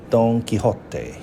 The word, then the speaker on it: Don Quixote: 大家好，讀你聽嘅時間，今日呢，我哋就開一本新書，書名就係 Don Quixote 唐吉訶德啊，中文嘅翻譯，英文嘅讀音呢就係 Don Quixote。當然如果係用呢個古西班牙文啦 Old Castilian 有另外一個讀音啦。不過呢，我哋而家用一個現代普遍嘅英文讀音Don Quixote。咁我哋呢本書係巨著啦，被譽為翻譯得最多語言嘅一個小說之一，classic novel 啦都係。今日就同大家分享下呢個篇章。咁我哋由作者嘅序嗰度開始先。讀之前就提醒下大家啦，呢本書入面當然係有好多西班牙文嘅翻譯英文啦，好多拉丁語嘅金句，而我呢就唔會用拉丁去發音啦，因為實在太消耗時間啦，咁大家亦都未必聽得明，咁我就會直接用嗰個英文注解嘅意思咧去讀出呢啲拉丁文金句嘅。好，分享讀你聽。Don Quixote by Miguel de Cervantes Author's Preface.